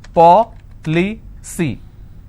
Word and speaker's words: policy: with cy for example policy how many syllables three paw ple see now here the rule says i need to stress on the third from right which means i will stress on paw i just bought an